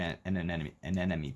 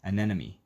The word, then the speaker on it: anemone: An enemy Pokemon. An enemy. That's a word I can't pronounce in English. Enemy? Anemone.